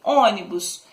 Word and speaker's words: ônibus: Exemplo, ônibus. Ônibus, o O que é acentuado, mas ela termina em S. Em us, quer dizer, perdão. Ela termina em us, então ela é acentuada. Ela é uma paroxítona, porque a gente acentuou o O, não é? Do ônibus, é a penúltima sílaba, porém ela terminou em US.